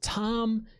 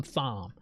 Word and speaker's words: Thom: lyrics of that song great fantastic lyrics so tom is getting so much respect and i'm calling him thumb his name is thom all right you're pronouncing